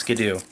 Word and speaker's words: Skiddo: Teddiursa, Skidoo, it's spelt Skiddo, it's pronounced Skidoo.